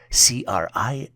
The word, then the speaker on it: crises: The plural version for crisis is spelled as CRISES and is pronounced as crises.